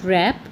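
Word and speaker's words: wrap: We should रैप, ये W है, W यहाँ क्या है? साइलेंट है।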